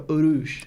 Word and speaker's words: Urouge: Urouge. Is that how you say it? I always forget. They in Japanese they go Urouch. Urouge.